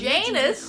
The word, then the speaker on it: Janus: The Janus? The Cold War spy master. A KGB senior officer and head of the 6th Column. Gotta remember to pronounce the J.